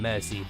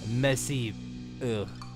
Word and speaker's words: merci: Mercy, Bicorp, my friend. Actually, no, it's French, so you you only pronounce the vowels. So, merci, my friend.